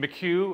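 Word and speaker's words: Mikiw: The one side, M-I-K-I-W, I cannot possibly give it the Chumash pronunciation, Miku or something like that, which means a place to wait.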